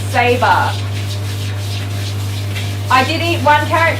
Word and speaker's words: Sabre: Zebra? No, Sabre. Saber. It's pronounced Sabre.